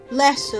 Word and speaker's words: Leicester: It's like bloody Worcester, but it's spelled Worcestershire, but it's not. Leicester, that's what it is, Leicester, that's what.